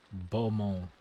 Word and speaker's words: Beaumont: Go to Boumon Workshop. Keep saying boo, it's Bo, I'm pretty sure. Beaumont. I'm pretty sure that's how it's said.